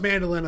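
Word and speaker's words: mandoline: It has an Just- E at the end. Like the square thing? Like potato kind of slicer? It might be pronounced mandolin. No, it's still pronounced mandolin according to every single person I've ever hear the word.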